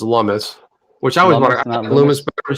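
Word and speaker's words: Lummis: out by the way jeff it's pronounced lummus which i was looming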